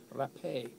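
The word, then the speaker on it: Rapée: I think there was an accent on the E just before the end, or the penultimate E, actually. Rapé.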